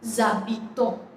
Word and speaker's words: habitons: Nous habitons. Now why I am saying habitons? Because H is a vowel.